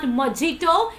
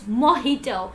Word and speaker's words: mojito: pronounce it like mojito it is not mojito it is mojito so you always have to pronounce ha sound not ja sound I hope so you